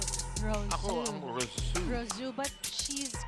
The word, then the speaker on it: Rousseau: How do you pronounce it? Ako ang Rousseau. Rosu, but she's called Ellie.